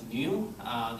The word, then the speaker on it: nu: The Poisson ratio we use in nu, pronounced as nu.